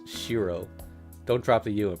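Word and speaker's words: Shirou: a private life so this is the correct pronunciation is Shiro yeah it's perfect I'm sorry I asked you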